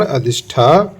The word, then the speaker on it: अजिष्ठा: यहीं पर अजंता से 2 मील की दूरी पर अजिष्ठा नामक ग्राम है, जिसका मूल शुद्ध उच्चारण अधिष्ठा है।